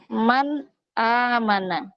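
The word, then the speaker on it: مَنْ آمَنَ: Contohnya kata man amana. Nah ini cara membacanya kita harus idhar atau jelas. Jadi tidak didengungkan, tidak disamarkan. Nunnya dibaca N jelas ya.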